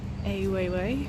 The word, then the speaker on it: Weiwei: There's an Weiwei, that's how you say it, exhibition on over there.